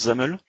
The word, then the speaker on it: XAML: Ça veut dire Extensible Application Markup Language, ça se prononce XAML.